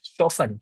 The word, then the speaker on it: Siobhan: Shofen. Shofen. Is that how you pronounce? Shivom. Siobhan. Think of chevron Siobhan. without the R. So Siobhan. It's a bit Okay, like chevron.